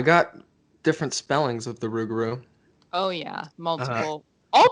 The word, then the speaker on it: Rougarou: Hint, it rhymes with what I just did. Let's not bury the lead. We're talking about the Rougarou. Which also rhymes with the Dauberku, which we did recently.